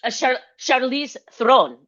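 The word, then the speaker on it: Charlize Theron: Shice the sherice The Oh, I like Charize Thron.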